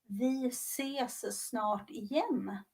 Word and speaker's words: vi ses snart igen: The proper pronunciation is vi ses snart igen.